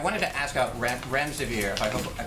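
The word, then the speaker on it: Remdesivir: so much I wanted to ask out rent rent severe if I pronounced that correctly can you tell say is it currently approved for use on the virus so REM des aveer and it's a drug made by Gilead that's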